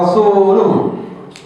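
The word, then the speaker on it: رسوله: Yang benar begini, bidomil lam, dengan lamnya di dhamma. Faqala al-a'rabi, kemudian orang Arab itu mengatakan, wa ana wallahu abra'u mimma bari'allahu wa rasuluhu minhu.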